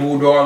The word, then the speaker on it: boudoir: boudoir. I know I'm already saying it wrong. Boudoir. Yeah, now you got it.